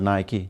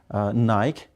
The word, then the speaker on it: Nike: the sport things but the word is wrong you mispronounced that is naik it should be nike so we say nike we don't tonight and what about Eddie